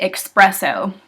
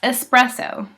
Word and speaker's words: espresso: this one a lot I hear a lot of people say expresso it's espresso there's no X in it justin s oh especially